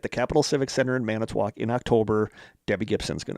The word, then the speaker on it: Manitowoc: at the Capital Civic Center in Manitowoc in October.